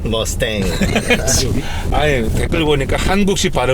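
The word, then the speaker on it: Mustang: 발음이 틀린 거예요. 머스탱. 머스탱.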